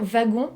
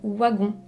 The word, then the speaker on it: Wagon: son nom de famille on pourrait dire wagon mais en fait elle a bel et bien dit waggon donc ça c'était quand